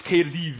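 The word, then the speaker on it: Caerdydd: But anyway, it's not Cardiff, it's Cardiff anyway. Cardiff. Apparently double D is pronounced.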